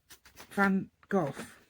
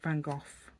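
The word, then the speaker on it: Van Gogh: um what's his name van goof yeah should pronounce it vanoff as well you don't pronounce it van go um because that's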